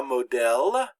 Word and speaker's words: modèle: And it always indicates that the E is pronounced like the short E in English, like the E in egg. So here we have the word la modèle, and that means model or pattern.